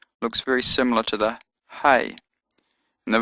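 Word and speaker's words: ה: all sort of connected the fifth letter is ha and it's got a h sound like the letter H ha ha as in ha sixth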